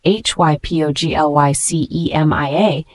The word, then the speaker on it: hypoglycemia: if not managed properly the word hypoglycemia spelled h y p o g l y c e m i a is a noun it is pronounced hypoglycemia this word means low blood sugar